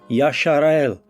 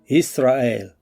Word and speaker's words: Yisrael: Stop saying Yashar'el and call the people and the land by the name that Yahweh gave it in the Hebrew tongue, Yisrael.